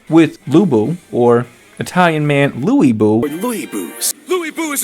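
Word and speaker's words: Lü Bu: luu or Italian man Lou bu Lou Bo Lou bu is attacking pu with Lou Lou bu's Reckless braver at least they were consistent every character that said Lou Buu said it incorrectly so okay every character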